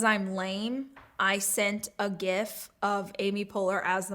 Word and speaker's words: GIF: Am I saying it right? GIF? It's GIF. We did a debate about this a long time ago. Remember that? Was that on a Rach Talk? GIF or GIF? Yeah, it's GIF.